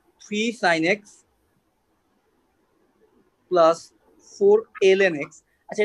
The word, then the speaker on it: ln: Sine x plus four এল এন এক্স। আচ্ছা এটাকে আমরা লন বলি, বাট এটা যদি ম্যাথমেটিক্যালি যদি কারেক্ট প্রোনাউন্সিয়েশনটা বলি এটাকে এল এন উচ্চারণ করতে হবে, এল এন এক্স।